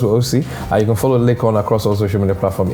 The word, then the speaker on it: Laycon: It's Laycon. Okay, cool. That's Laycon, Laycon, not CORN or anything. It's not. Yeah, corn. it's not corn. It's Laycon. And then some people pronounce it as Laycon.